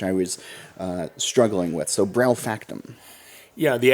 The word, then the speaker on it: BraufactuM: BraufactuM. Okay. Yeah. So there's a hard M and a capital M on the back of the back of your name, which I was struggling with. So BraufactuM.